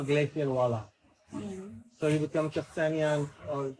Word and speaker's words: Aksinya: So you become Aksinya, or how do you say your name? Aksinya, Miss Glacier, whatever, something like this.